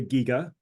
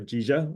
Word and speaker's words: GIGA: So now I will turn to GIGA, or GIGA. I guess you could pronounce it the way you want.